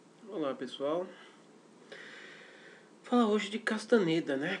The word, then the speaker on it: Castaneda: pessoal falar hoje de Castaneda né Castaneda ou castanheda Depende de como você queira pronunciar Carlos castanheda e a